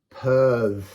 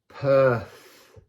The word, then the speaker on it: Peorð: Peorð. Peorth.